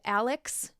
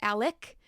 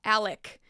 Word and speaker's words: Alex: where I accidentally said Alex instead of Alec it's confusing because it's spelled Alex but it's pronounced Alec and there were a